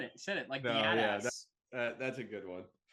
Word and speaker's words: Biadasz: I think the biggest losses were Tyron Smith and Tyler Badass. Biadasz? I don't know how to say it. Biadasz is how you say it, yeah.